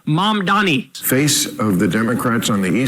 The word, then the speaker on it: Mamdani: If Mondami is the... Mondami. What is it with old white guys not being able to say Mamdani? Fucking Cuomo can't say it right. Bill Maher can't say it right. Mamdani.